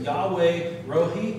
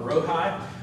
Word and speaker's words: Yahweh Rohi: god it's the name in hebrew you would pronounce it yahweh rohi or rohai i'm going to pronounce